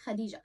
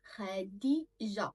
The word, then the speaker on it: Khadija: Khadija. So the sound, I write the sounds, I write how to connect it together. Kha, kha, then di, then ja, Khadija.